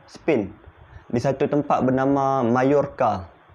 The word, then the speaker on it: Mallorca: Okay, Anselm Tormeda ni dia berasal daripada Spain, di satu tempat bernama Mallorca. Nama tempat dia, ejaan dia Majorca. Cara sebut dia Mallorca.